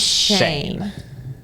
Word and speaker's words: Schoen: If you guys don't know how Colin's last name is spelled, it's S C H O E N. It's the worst. Imagine. But it's pronounced Shane.